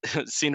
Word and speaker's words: Sina: But Sina rhymes with Kina, that's what made me get it out.